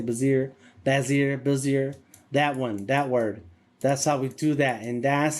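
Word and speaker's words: Bézier: Bezier.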